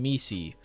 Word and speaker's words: Misi: Or, I'm so sorry, Mies. I've been saying your name wrong forever. And I've never been corrected until I saw Taylor State the other day. But good morning, Misi.